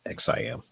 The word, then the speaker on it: XIAM: I started this brand, and the brand was called Project XIAM, pronounced Project XIM.